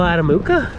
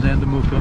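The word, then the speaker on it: Andamooka: Is that what they call Adamuka? That is Andamuka. Andamuka. I've been saying it wrong my whole life.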